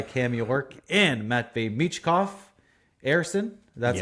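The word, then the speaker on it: Ersson: Erson, that's how you pronounce his name, got the start, led in 4 goals and 29 shots.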